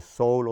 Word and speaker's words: sole: Remember, the sole of the shoes, S-O-L-E, the sole of the shoes, is pronounced pretty much as soul, the soul or spirit.